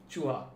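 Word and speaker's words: चूहा: Chuha.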